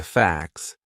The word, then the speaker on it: facts: So that would be a silent t. It's in between a c and an s. Two consonant sounds. Facts. And it sounds exactly the same as f a x.